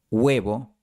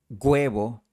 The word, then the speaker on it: huevo: Por eso, la pronunciación que recomiendo para personas aprendiendo español es hielo, hierba, huevo, hueso. A veces vas a escuchar hielo, hierba, huevo, hueso, pero no te recomiendo imitar esto.